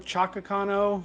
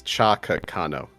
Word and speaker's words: Chaka Kano: I mean, you can say however you want, but according to the random name generator, it's Chaka Kano.